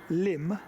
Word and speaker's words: Lympne: do a country walk-in magazine walk a uh limb spelled l y m p NE e but pronounced Lim apparently doing their limb and hi